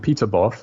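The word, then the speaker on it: Pieter Both: This mountain's called Pieterboth, and that's Pieter, and then the second word is Both, which is spelt both, Both.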